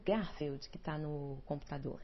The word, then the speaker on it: Garfield: E o Garfield, né, a pronúncia seria Garfield, já ali com aquela carinha.